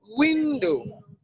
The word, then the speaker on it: window: second syllable so the option D is window window window and I saw Sean D window is the one that has its own stress marker on the first syllable window alright so then